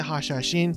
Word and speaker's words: Hashashin: and awakening abilities for the hasha sheen or hasha shin i've heard pronounced both ways but i'm used to pronouncing it hashashin for whatever reason so that's what i'll say and you might